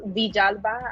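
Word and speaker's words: Villalba: It's pronounced Vijalba. I am Panamanian.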